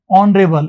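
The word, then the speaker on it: honourable: Manage ऑनरेबल score two find ऑनरेबल इसमें भी एच नहीं आएगा। ऑनरेबल सुनेगा ऑनरेबल स्कोर हमारी टीम ने सम्मानजनक स्कोर बनाया लड़ाई लड़ने के लिए खेल खेलने के लिए।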